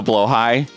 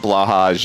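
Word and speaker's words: Blåhaj: the the blow the blo high that just got thrown at me by the way it it's it's not blahaj it's blo high that's the actual correct pronunciation of it um for anybody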